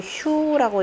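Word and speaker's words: 墮: 이 타자는 떨어뜨릴 타 이렇게 되는데 무너진다 그러면 휴라고 읽죠.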